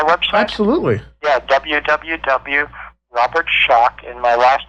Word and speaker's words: Schoch: I say my website absolutely yeah www Robert shock and my last name is spelled s c h o c h so